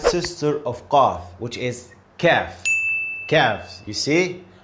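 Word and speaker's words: كاف: Let's go to the light sister of Qaf, which is Kaf. Kaf, you see? I showed you a little smile. This is how I pronounce it. Kaf. Kaf.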